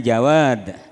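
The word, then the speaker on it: جواد: Kalau yang maha dermawan, yang maha ngasih itu namanya jawad. Bi ghairi tasdidil wawi, ndak pakai tasdid wawunya. Jadi jangan jawad membacanya.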